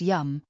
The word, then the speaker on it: Yam: The Bija mantra Yam, pronounced Yum, will help balance her heart chakra.